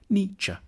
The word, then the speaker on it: Nietzsche: to pronounce his name the first bit should sound like knee the second like cha Nietzsche then we need to